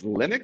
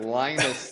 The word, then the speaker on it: Linux: It's Linux. Is that right, Ja? Okay. Okay. I was thinking of Lionus the Peanuts character, I guess.